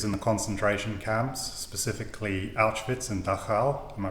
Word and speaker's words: Auschwitz: um Frankel's experiences in the concentration camps specifically Auschwitz am I pronouncing that correctly yeah perfect okay the second